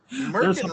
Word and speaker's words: merkin: Merkin rhymes with Durkin. It does, and gherkin.